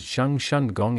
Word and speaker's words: Cheng Sun Kiong: The inner walls of Cheng Sun Kiong, the main hall of the temple, pronounced as Sheng Shun Gong in Mandarin, feature depictions of the